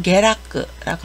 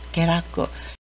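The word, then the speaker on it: 下落: 하락하는 걸 게라크라고 합니다. 게라크. 여기 아래 하자가 있는데요. 아래 하를 게라고 읽는데 주의하시기 바랍니다.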